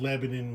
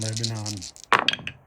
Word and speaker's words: Lebanon: I'm I'm used to pronouncing it a different way because the good people of Lebanon, Missouri, uh refuse to have their town name pronounced the same as Lebanon in the Middle East. If you go there and you pronounce it Lebanon, they will let you know real quick that is not correct.